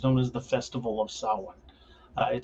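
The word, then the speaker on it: Samhain: as the Festival of Sawan it spelled Sam Hayne s-a-m-h-a-i-n but uh as all things Celtic it is certainly not pronounced that way like uh the phrase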